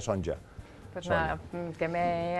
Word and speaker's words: Sonja: lo buscas en internet es sonja con j son sonja aunque se pronuncia sonja Pues nada que me